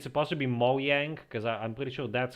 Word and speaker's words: Mojang: But I also read that in Swedish it's pronounced Mojang, because in Swedish the J is a Y kind of thing.